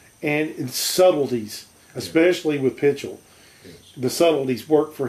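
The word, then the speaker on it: Pichel: Gloria Holden and Irving, how do you pronounce it? Pitchell? Yeah, Pitchell.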